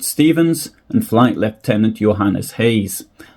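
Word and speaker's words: Gouws: They were Flight Lieutenant Rupert Stevens and Flight Lieutenant Johannes Hayes. I believe that Hayes is the correct pronunciation. I don't speak Afrikaans, but Hayes is actually spelled G-O-U-W-S.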